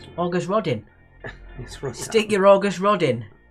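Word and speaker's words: Auguste Rodin: made of which metal i believe it's pronounced august redin august rodin stick your august rod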